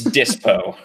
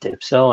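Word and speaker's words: Dyspo: It's Dispo. Dispo. That's even better. Dispo. Okay, that's actually a decent name. Because I kept pronouncing it Dipso, and I'm like, that can't be right.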